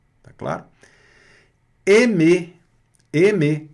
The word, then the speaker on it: aimer: Nós vamos ver aqui que esse A mais I dá E, né? Aimer. Vamos ver isso mais para frente, tá? Mas aqui também pronúncia fechada aqui do E, aimer, que é amar e gostar.